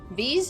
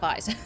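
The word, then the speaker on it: Viis: Vise rhymes with peace? V's? It's V's, not Vise.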